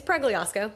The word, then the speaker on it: Pregliasco: It's well you know it's Plyiosco.